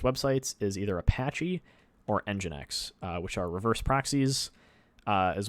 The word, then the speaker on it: nginx: as njinx true correct the engine sorry the njinx documentation no the nginx darn it owen the nginx documentation says to pronounce it nginx so that's what we're going with um great